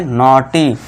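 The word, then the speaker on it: naughty: ठीक है दोस्तों, तो बस CAUT का साउंड आपको देना है, तो इसे क्या पढ़ेंगे कॉट, और इसे क्या पढ़ेंगे नॉटी।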